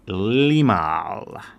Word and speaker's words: Limahl: to be doing the song Neverending Story by Limal. That name is spelled L I M A H L. And first a little bit about that person because that may seem like a very weird name. Limal.